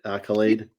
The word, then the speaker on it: Akylade: Did I pronounce it right? Accolade. You did. Accolade is correct.